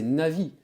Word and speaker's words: Navi: en fait ok d'accord d'ailleurs Navi il y a beaucoup de gens qui prononc ça na alors que c'est Navi comme un navigateur en fait GPS c'est